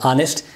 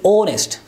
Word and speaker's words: honest: example in the word or list this is that honnest are honest this is honest when do you articulate